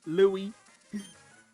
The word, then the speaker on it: Louis: Louis. Yeah, the S is silent.